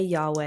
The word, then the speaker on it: Yahweh: Hebrew word for God when you say Yahweh and pronounce it how it's properly pronounced it actually mimics a breath so when you're saying the the name of God Yahweh you're actually mimicking a